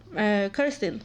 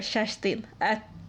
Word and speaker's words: Kerstin: And my grandma's sister, Kirstin, or Kerstin, as we would pronounce it in Swedish.